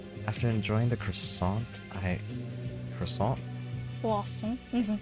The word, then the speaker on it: croissant: After enjoying the croissant, Croissant? Croissant. It's croissant. Croissant. You can't pronounce the T, that's the main part.